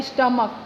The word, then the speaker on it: stomach: रहा है, यानी क, जैसे इसमें दे रखा है स्टमक, स्टमक की स्पेलिंग देखिए STOMACH होती है, लेकिन साउंड किसका दे रहा है? क, तो वहाँ पे एस का यूज़ होगा।